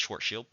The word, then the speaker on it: Schwarzschild: I believe it's Schwarzschild, if you're being particularly Germanic in your pronunciation.